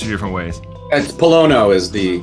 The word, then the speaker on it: Pollono: is it Palo or Palo I've heard it pronounced two different ways it's Palo is the correct Italian pronunciation but awesome well that's where we go I grew up in the north east it was palano so I'm I I answered to both okay